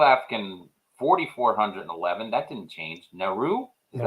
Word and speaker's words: Nauru: Nauru. Is that how you Nauru. say that one? Yeah, Nauru.